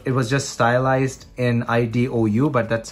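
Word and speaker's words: Idou: the sony ericsson satio i do now that's pronounced i do it's what it was just stylized in ido but that's how it's pronounced it's pronounced i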